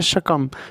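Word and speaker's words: succumb: इसको बोलेंगे सक सकम स्कम लिखा हुआ है लेकिन इसको बोलते हैं शकम शकम का मतलब क्या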